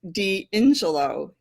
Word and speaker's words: D'Ingillo: as some people have it's pronounced deelo deelo okay there we go now